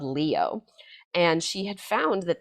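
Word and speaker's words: Lio: It's called Leo, L I O is how it's pronounced.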